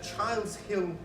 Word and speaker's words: Childs Hill: Councillor in the Childs Hill Ward, is that how you pronounce it?